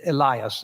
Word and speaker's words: Elias: moses and one for elias i stumbled on that name because it's often said elias and either pronunciation is correct while he yet spake